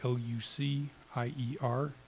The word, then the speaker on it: Lucier: It's spelled L-U-C-I-E-R. And it's pronounced Lucier if I want a good table at a decent French restaurant.